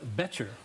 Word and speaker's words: Boettcher: to mosaic with me today is father John Boettcher Bo TT CH er I just learned how to pronounce and father better thank you for joining